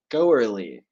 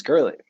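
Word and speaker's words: Goerli: go e-r-l-i girly g-o-e-r-l-i so it sounds like it should be pronounced go early go early but it's girly I'm stacking up my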